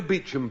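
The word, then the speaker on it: Beauchamp: Now, you know beach and place pronounced beach and spelled Bonaw B a U C H A M P.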